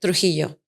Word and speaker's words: Trujillo: Trujillo.